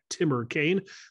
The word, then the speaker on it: TimmerKane: His Twitter handle is @TimmerKane. That is spelled T-I-M-M-E-R-K-A-N-E. That's Timmer Kane, not to be confused with the senator from Virginia.